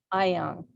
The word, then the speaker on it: Ayoung: Ayoung. Ayoung. You see, like you see, like you are a young person, right?